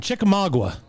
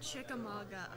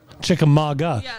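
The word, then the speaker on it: Chickamauga: So, uh, you are a, um, girl from Chikamagua. Yes. It's actually pronounced Chikamaga. Chickamaga.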